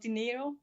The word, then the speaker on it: Dinero: Like Spanish, like money in Spanish.